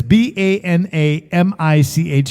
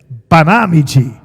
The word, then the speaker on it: Banamichi: say that b okay everybody says banamichi it's banami bami you guys are getting good one more time banami bami we're getting it very good Accent on the second syllable you can actually get